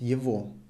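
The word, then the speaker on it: его: female and the neutral it was evo written you go pronounced evo instead of go we pronounce the vo and here we'll have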